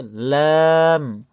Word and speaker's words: لام: লাম লাম লাম লাম লাম মনে থাকবে কি বলেছি? আট নম্বর মাখরাজে কি বলেছি? জিহবার আগার কিনারা সামনের উপরে দাঁতের মাড়ির সঙ্গে লাগাইয়া অর্থাৎ জিহবার আগার যে